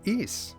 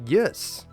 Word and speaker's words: Ys: or maybe you're wondering how does he know that it's pronounced e why wouldn't it be yes or wise well we'll find the